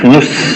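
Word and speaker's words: نص: Kadang orang Arab bilangnya enteng aja. Nus ya dari kata nisf tapi diucapkan nus. Nus. Jadi seolah-olah hanya nun dan sad saja.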